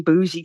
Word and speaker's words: Beauji: of people wonder whether the name bougie comes from because it's spelled b-e-a-u-j-i bougie brown girl and I I